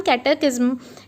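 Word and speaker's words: catechism: Group of questions and answers को भी हम कैटेकिज्म बोलते हैं। सो कैटेकिज्म को कैसे हम प्रोनाउंस करेंगे, जैसे KAET, फिर यहाँ पर आएगा E और ISM।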